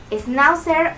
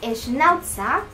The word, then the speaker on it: Schnauzer: Y bueno, él es una raza Schnauzer, o si lo quieren pronunciar de la forma alemana, se llama Schnauzer.